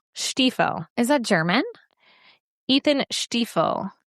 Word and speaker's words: Stiefel: I looked up the pronunciation of his last name. This is the guy who played Cooper. yeah. Stiefel. Stiefel.